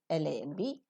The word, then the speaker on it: lamb: Wherever we have the letters M followed by B in the English words, B sound is always silent. It ends with the nasal sound and we don't pronounce the plosive sound.